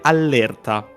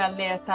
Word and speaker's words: allerta: parentesi di dizione non richiesta, la pronuncia effettiva sarebbe allerta, che è orrifilante. Orrendo, mi rifiuto. No, ma... io dico sempre allerta, raga.